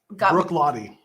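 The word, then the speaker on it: Bruichladdich: chip chip is drinking no it was brook lottie brook lottie okay that's how you pronounce the brook lottie that's how you spell it if you're in scotland yeah i guess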